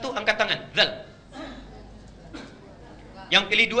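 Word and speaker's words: ذ: Itu ternyata yang paling mudah diucapkan itu zal, bukan dal. Zal. Karena itu disebut harfu takhfif yang ringan. Zal, zal, zal, zal. Seperti sa, ada 2 huruf yang lidahnya digigit sedikit.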